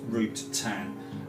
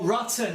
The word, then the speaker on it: Rutan: um it's pronounced burt uh what's that it's pronounced burst root tan but root tang i said rutan didn't i oh rutten i probably said rutten my apologies as fast